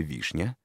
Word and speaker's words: вишня: ом называется безударном например в слове вишня ударение падает на первую гласную букву и поэтому ударный в этом слове первый слог а второй слог